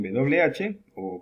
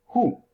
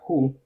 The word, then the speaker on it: who: Who. Se escribe de esa manera, se pronuncia who, mucho más suave que con una J.